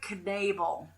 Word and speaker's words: Knabel: her name is Andrea Knable so you do say the cave and it's pronounced as it's spelled and she wanted to